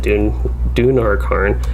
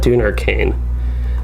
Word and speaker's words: Dunarkarn: That is good, Dunarkarn. I almost said Dunarkane. It's almost easy for me to do Kane instead of Karn at the end.